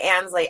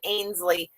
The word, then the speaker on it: Ansley: you know lenslee a-n-s-l-e-y ansley i always put i always pronounce it a as in ainsley and it is pronounced ansley that is mother's mustache